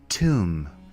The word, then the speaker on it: tomb: to our fourth word tomb repeat after me Tom the bee here is silent let's take a look